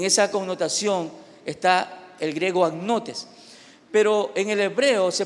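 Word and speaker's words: ἁγνότης: En el griego, la palabra pureza se pronuncia agnotes. Así que agnotes con H. A-G-N-O-T-E-S, agnotes.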